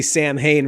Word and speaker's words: Samhain: That's cool that he pronounces Samhain correctly. Like in the second film, we see Sam Hain written.